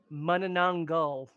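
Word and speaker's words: Manananggal: Oh, it's even worse than we were doing. Mananangal. All right. So I just stressed the wrong syllable.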